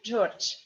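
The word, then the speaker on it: Джордж: That's funny because zh in the end of the word we pronounce like sh. And this d also we pronounce like t, George. So in English you say something like George, Yeah, in Russian we say George.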